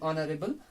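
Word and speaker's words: honourable: और एक एग्जांपल यहाँ पे देखते हैं, एन ऑनरेबल पर्सन। यहाँ पे एच क्या है, यहाँ पे फिर से ऑनर की तरह, यहाँ आर की तरह यहाँ पे भी एच साइलेंट रह रहा है, तो इसीलिए यहाँ पे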